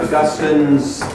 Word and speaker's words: Augustin: And unfortunately, an E at the end invites us to mispronounce his name, Augustine. It's Augustin, you know?